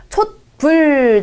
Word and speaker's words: 촛불: 촛불. 자, 이거는 네, 읽을 때 촛불이라고 읽죠.